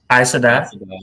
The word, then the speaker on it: Aes Sedai: Aes Sedai.